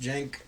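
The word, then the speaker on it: Cenk: That guy, man, if you don't know who he is, Jank Uyghur on TYT, spelled with a C, but pronounced Jank.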